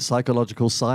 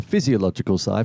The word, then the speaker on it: physiological sigh: A lot of people say it wrong. They call it the psychological sigh, and I've seen that online quite a few times. It is not. It's the physiological sigh for a very good reason.